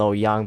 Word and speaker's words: Lo Yang: I just going to call it L Yang because it sounds better and I think that is the proper way of pronouncing this destroyer name.